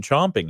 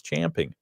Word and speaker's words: champing: to mean oh well they must mean chomping no it's champing is it Regional is